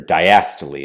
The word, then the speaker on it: diastole: Conversely, we have dystole. Dystole is typically going to be relaxation, so we can have ventricular dystole, relaxation of the ventricle. And while systole and dystole, or diastole as some people pronounce it, typically can literally mean